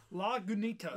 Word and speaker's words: Lagunitas: awkward and pronounce this it's called Lagunitas little something some ale log good neato when the boxes says how to pronounce it which is weird it's spilling out phonetically don't miss it all